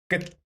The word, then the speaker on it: 끝: Instead of pronouncing it like instead of pronouncing it like this, make it sound like a single like this. 끝.